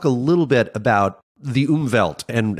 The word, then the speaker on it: Umwelt: If time itself isn't necessarily a sense, there is this vast sensory realm that you and others refer to as the Umwelt.